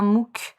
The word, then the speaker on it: MOOC: s'il te plaît et je précise que mou c'est un acronyme qui s'écrit m2oc mou ça veut dire massive open online courses oui c'est c'est anglais